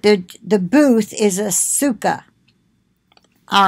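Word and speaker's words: סוכה: of Sukkot but the the booth is a Sukkah all right an Hebrew teaching Jewish lady that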